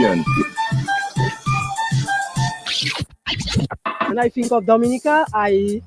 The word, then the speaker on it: Dominica: in the Caribbean when I think of Dominica I it's all natural and you can get